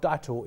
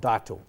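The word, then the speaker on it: Dytor: next and ceo deuter is here with us it's the third pronunciation of your name i've used tonight i apologize for that it's deitel your revenue is up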